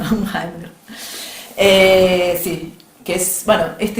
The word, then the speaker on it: Unheimlich: Que, bueno, que Freud decía el Unheimlich, bueno, pronunciación alemán, pero bueno, Unheimlich.